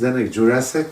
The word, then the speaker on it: Zdeněk Jurásek: My name is Zenik Jurassic. They call me is Zedneck Jurassic. It is very complicated to pronounce pronounce my name.